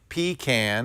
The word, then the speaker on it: pecan: I say pecan, and that's blue.